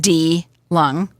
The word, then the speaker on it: DeLung: Your website is DeLung, and it's spelled D-E-L-U-N-G, but it's pronounced D-Lung, right?